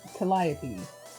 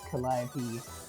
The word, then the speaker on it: Calliope: Starlight Calliope. God, I've been saying it Callio for so long and realizing it's actually pronounced Calliope.